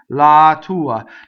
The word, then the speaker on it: la tua: go through the Aria so la the definite article is a weak mono syllable so weak mono syllable does not cause a phrase little doubling I hear a lot lot to uh TT where it doesn't belong la tua now the word la